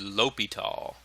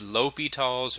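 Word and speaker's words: L'Hôpital: And the way you say that is Li Tall. It's Li Tall's rule.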